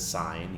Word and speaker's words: sine: of these so sine we pronounce this as sine even though it looks like sin cosine we pronounce as